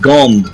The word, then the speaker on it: Gond: He's pronounced Gond, not God.